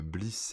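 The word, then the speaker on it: Bleass: Alors, faut que je la retrouve, hein, mais qui s'appelle Bliss. Alors, Bliss, ça s'écrit B-L-E-A-2-S.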